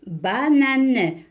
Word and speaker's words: banane: Ici, il n'y a pas le son on, mais banane. Banane. Alors, vous faites très attention. Même s'il y a an, on ne prononce pas le on ici. C'est une banane.